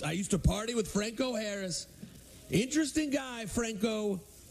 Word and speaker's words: Franco Harris: Once I used to party with Franco Harris. Interesting guy, Franco. I think his name's Franco, right? It's not Frank O'Harris.